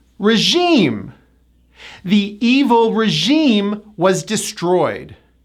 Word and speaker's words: regime: This is another word that comes from the French. The 2nd syllable gets the stress, and it also has that high E vowel. Regime. Regime.